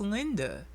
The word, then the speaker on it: Linda: And apparently it's pronounced Linda. Oh, well, I'm sorry, Linda. I literally almost said I'm sorry, Lind. I'm so used to calling her Lind.